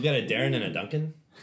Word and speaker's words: Duncan: So we've got a Darrin and a Duncan. Dunekan. Duncan. Okay. See, everyone mispronounces our dwarven names. This is why we're so angry all the Duncan, time.